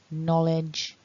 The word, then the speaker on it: knowledge: from today is to remember that in this collection of words, you don't want to be pronouncing that letter K that looks as if it's there, but actually it's silent. So feel free to click